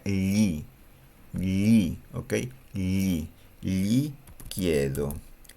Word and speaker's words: gli: Para decir yo le pregunto en italiano es gli chiedo. Ya, voy a ponerle el yo. Io gli. Esa frase se pronuncia gli.